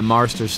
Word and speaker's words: Marsters: We're going to talk to James Marsters. That's how you say it, right? Yeah, Marsters. Thank you.